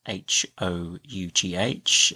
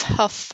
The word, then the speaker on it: Hough: So just to clear things up, the pronunciation is as it would be with a T on the front. So it's tough or rough.